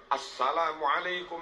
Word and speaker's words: Assalamualaikum: Asalamualaikum warahmatullah Asalamualaikum warahmatullah as itu ada Al ketemu Sin bacanya harus Asalamualaikum warahmatullah Asalamualaikum warahmatullah beberapa